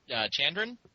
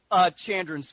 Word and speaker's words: Chandran: Chandran? Yeah? That works. All right. Excellent. Now, what is it like totally? Like Chandran, Chandran? Chandran's fine. Chandran, okay, yeah, I definitely should have said that in the pre-show warm-up.